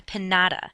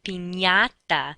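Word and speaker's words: piñata: party is not a panada that's not what the candy falls out from it is a pinata that NY sound sort of like how we pronounce lasagna and why ok the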